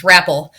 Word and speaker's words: Rapple: need to apologize because how to pronounce his last name is Rapple. Uh oops. Rapple like an apple, baby.